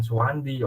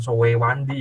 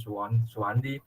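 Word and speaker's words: Soewandi: Oke, tadi kan Anda sudah menyampaikan tentang bahasa itu, tentang sistem, simbol, terus kemudian sejarahnya bahasa, mulai dari ejaan Suwandi, bukan Sowewandi ya, tapi Suwandi, dan seterusnya, Van Ophuijsen, dan seterusnya.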